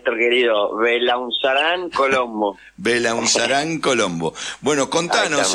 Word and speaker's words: Belaunzarán: El joven Diego ván creo que así se pronuncia tu apellido Diego Cómo te va Hola n querido belaunzarán Colombo belaunzarán Colombo bueno contanos Es una lástima